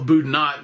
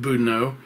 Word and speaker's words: Boudinot: and keep going now that whole thing is Boudinot or I sometimes call boot not I know I'm mispronouncing it everybody calls it Buddha know one of the few things that we pronounced correct around here with a with a silent T yeah okay I won't